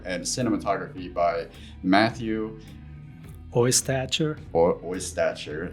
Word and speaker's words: Oystacher: Oystacher. It's just like it's spelled.